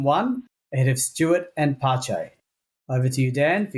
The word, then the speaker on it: Pace: I thought that was pace. Yeah, we also... I didn't realise the correct pronunciation was Pache.